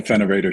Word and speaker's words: FINOV8R: So check out the Finovator channel on YouTube, and don't forget to subscribe. Yeah, don't forget to subscribe. It's spelled FINOV8R, Finovator. So you got it, Allan.